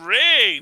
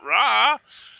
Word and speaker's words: Ra: that is now oh now we think they called him rey not raw it's like okay but you know acknowledge that we people have called them raw for several hundred years now and if there's